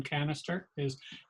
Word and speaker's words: Canister: Canister did I pronounce that correctly? Canister? Yes.